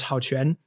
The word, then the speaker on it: Hao Quan: So my Chinese name is Hao Quan. And so so Hao, right? Pronounced slightly differently. In Chinese, it goes first. So the family name goes first, so Hao Quan.